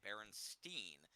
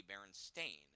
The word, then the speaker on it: Berenstain: commented on his belief was that they were spelled with an E, Berenstein, but no, it's with an A, Berenstain.